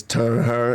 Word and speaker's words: TurnHer: smooth Turner or like a turn her it's turn her it's spelled turn her I know the spell turn